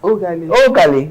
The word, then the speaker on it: Ogali: Ogali, I like your name because my daughter's friend is also Ogali. It's Ogali. Yeah. You really have to be skilled to pronounce that name.